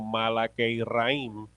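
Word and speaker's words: מלאכי רעים: El hebreo menciona, se pronuncia algo más o menos como Malakeiraim, pero cuando el hebreo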